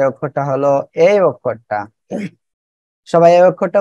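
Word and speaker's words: ح: হা, আমরা এই অক্ষরে কি করব? হলকে শুরু, শুরু কোন জায়গায়? এই জায়গা, হা, এই জায়গা থেকে উচ্চারণ করব আর একালিপ টেনে পড়ব।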